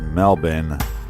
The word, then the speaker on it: Melbourne: Well, it's pronounced Melbourne. The Bourne is silent.